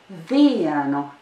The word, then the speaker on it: vienu: Vienu. Vienu. In this word, there is a diphthong that usually causes difficulties to English speakers. Listen again. That diphthong is in the first syllable of the word.